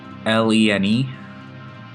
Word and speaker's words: Lene: Yeah, I think Lene is how you pronounce the name. Lene.